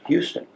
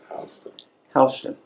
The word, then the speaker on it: Houston: York City that spelled Houston but it's not pronounced Houston H hon I don't know how they get hon out